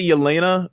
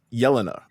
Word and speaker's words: Yelena: I'm talking about we say Yelena, but it's Yelena. I'm assuming. Yes, correct. I went with Yelena.